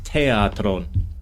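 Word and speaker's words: θέατρον: It's a t but it's aspirated.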